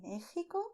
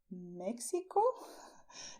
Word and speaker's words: México: You can say Mexico, soft, with your throat, or a little stronger, also with your throat. So, Mexico. But you do not say in Spanish, Mexico. This is not correct. Okay? So, if you go to Mexico, do not say this. Okay? Say Mexico. And stress the Mexico.